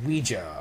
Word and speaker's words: Ouija: It's pronounced Ouija, alright?